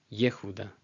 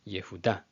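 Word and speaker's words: יהודה: a Shvana, which is a brief audible Shva. but it's not treated as its own syllable, so it's not Yehuda, Yehuda. It's Yehuda, Yehuda.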